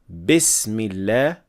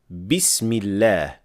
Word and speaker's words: بسم الله: The second thing is to make sure that you're not applying imala on kasra for the word bism. So, we do not say Bismillah, but we say Bismillah.